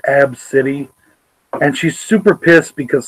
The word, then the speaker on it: ABCDE: her kid ABCDE and she said that you pronounce it AB City and she's super pissed